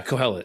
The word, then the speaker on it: Kohelet: Yeah, Kohelet.